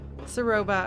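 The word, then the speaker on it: Ceroba: Did I get her name wrong? Saroba, okay.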